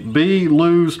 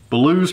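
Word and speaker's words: Belews: look over me i the letter tells me b lose creek blues creek woodcraft appreciate the pronunciation there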